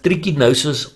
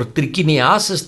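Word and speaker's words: trichinosis: pronounced as trikinosis or trikiniasis trikinesis parasitic disease caused by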